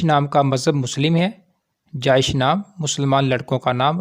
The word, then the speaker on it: Jaish: Welcome to baby names diary. نام ہے جائش۔ جائش نام کے انگلش میں سپیلنگ ہے JAISH، جائش۔ جائش نام کی جنس